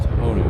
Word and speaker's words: Honu: It's pronounced Honu. The Hawaiian language uses all long vowel sounds, so if you're trying to pronounce a Hawaiian word, go with the long vowel sound.